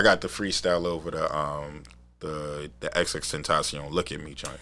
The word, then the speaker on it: XXXTentacion: the freestyle over the XXXTentacion Look at Me joint, right? Thank you for teaching me today that that's how you say his name. How you were saying that? I was calling him an extension.